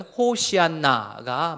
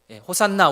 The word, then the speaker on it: 호산나: 말을 헬라어로 음역한 겁니다 원래 발음을 하자면 호시안나가 막겠습니다 뜻은 지금 구원해 주십시오 호산나 우리 많이 하지 않습니까